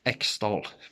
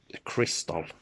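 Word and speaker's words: Xtal: So the opening track X-Doll, or pronounced Crystal, Chris X-Doll, Crystal, one of my top 10 Aphex Twin song, no question about it, no question.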